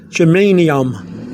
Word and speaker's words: germanium: word down is to say to yourself, German, I am. Like I am German. German, I am. So somebody asks you, are you German? You say, German, I am. That's how, so you know how to say the word, germanium.